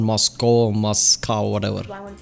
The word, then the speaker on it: Moscow: Moscow. Moscow. See, Americans say Moscow. We say Moscow. Well, you'd say cow. C-O-W, cow.